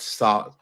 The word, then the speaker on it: soldered: Soldered because it's a silent L, right? Mm-hmm. Yep. Soldered. All right, soldered. That's just soldered. Pretend it's SODD. Pretend it has 2 Ds.